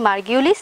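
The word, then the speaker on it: Margulis: আচ্ছা, এখন এরকম দুইজন বিজ্ঞানী মার্গিউলিস এবং হুইটেকার, দুইজন বিজ্ঞানী আমি নামটা লিখি, একটু কঠিন তো, তোমরা আমার সাথে সাথে একটু বলো, তাহলে তোমাদের উচ্চারণ করতে সুবিধা হবে।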